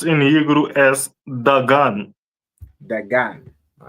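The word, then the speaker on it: דגן: Corn is pronounced in Hebrew as dagan.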